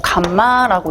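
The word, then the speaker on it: γ: 그리고 감마라고 읽습니다.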